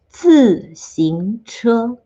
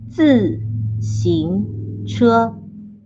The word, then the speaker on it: 自行車: Okay, next up, 自行車. The pronunciation is a little bit tricky, so let's do it again. This time slower. 自行車.